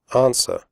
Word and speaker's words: answer: Answer. The W sound is silent. Answer. Do not say answer.